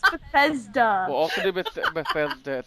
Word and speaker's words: Bethesda: Well, okay, that's how you pronounce it. I call it Blissinda. What? Oh my god. It's Bethesda.